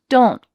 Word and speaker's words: don't: This happens a lot with negative contractions, that we end the word with a stopped T. This means that your tongue is in the position of making a T, so it's flat at the top of your mouth. Don't. But you don't let the air pass through to make the T. Don't. That air is stopped. So instead, you need to say don't.